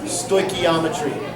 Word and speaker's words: stoichiometry: have a blast and by the way it's pronounced stoichiometry all right very good bye